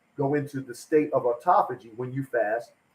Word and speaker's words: autophagy: It's pronounced autophagy.